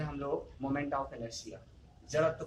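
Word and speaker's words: inertia: इसको इनर्टिया नहीं पढ़ेंगे आप लोग, इनर्शिया पढ़ते हैं। इसका प्रोनाउंसिएशन क्या होगा, इनर्शिया, ठीक है।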